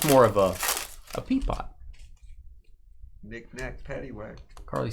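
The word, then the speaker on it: Pepiot: I think it's peepot.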